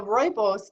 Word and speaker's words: rooibos: And that's spelled R-O-O-I-B-O-S, but it's pronounced rooibos.